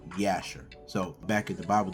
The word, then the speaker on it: Jasher: Now, they didn't have a letter J in the Hebrew alphabet. So, they use the letter Y. So, really the pronunciation of Jasher, which we how we say it really is the uh book of Yasher.